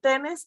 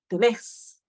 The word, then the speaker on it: tenés: lo único es que no vamos a decir tenes sino tenés sí la fuerza de la pronunciación donde está el acento sí muy bien perfecto